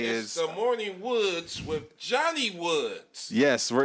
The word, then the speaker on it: Woods: told you 17 times it's the morning woods with an s it's plural it's the